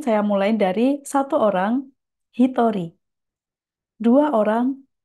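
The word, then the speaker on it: 一人: Di sini saya mulai dari satu orang, hitori, dua orang, futari, tiga orang, sangnin. Jadi di sini cara baca yang spesial adalah satu orang dan dua orang.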